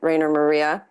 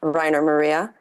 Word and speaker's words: Rainer Maria: Midwest emo band called Rainer Maria also pronounced Riner Maria we take all pronunciations and um right now